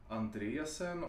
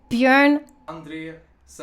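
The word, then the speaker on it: Björn Andresen: Andresen, we say Andre like Andrea. Bjorn Andresen.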